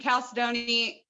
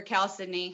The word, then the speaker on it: chalcedony: explaining our chalcedony yeah and calcedoni is or cow sydney however you want to pronounce it is a form